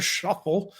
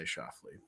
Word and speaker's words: Schauffele: Watch Scotty Scheffler, Xander Schauffele, and more of the top 30 golfers in the PGA Tour face off for the FedEx Cup this week.